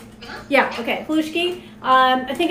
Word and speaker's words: halushki: Is that how it's pronounced? Yeah, okay, halushki.